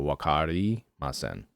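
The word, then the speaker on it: わかりません: a breakdown of like, say it syllable by syllable. Okay. So Wa. Ka. Ri. Like R-I. It's kind of like more of like an L-I almost. Okay. Ma. Sen. And sen is like you say it like a S, almost like an S-E-H-N. So sen. Okay, sen. So wakari masen.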